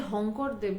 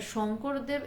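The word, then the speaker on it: শঙ্করদেব: প্রচন্ড তন্ত্রের ব্যাপার এবং যে হংকর দেব বলছে একচুয়ালি শংকর মানে অসমিরা সকে হ বলে উচ্চারণ করে তো শংকর দেব এখনো মানে অসমিরা ওখানে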